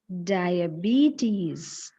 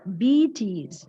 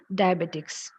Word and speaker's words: diabetes: we have dong sounds we have trong sounds pronunciation is Diabetes di di diabetes diabetes and how do we pronounce it commonly diabetics H diabetics that is a mispronunciation the correct